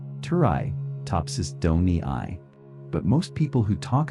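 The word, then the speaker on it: Turritopsis dohrnii: Its scientific name is turtopopsis dorni. You can say it like this. Turi topsis doni.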